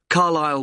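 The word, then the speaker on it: Carlisle: and your address 45 carile way could you spell carile for me sorry it's c a r l i s l e you don't pronounce the S carile way and that's in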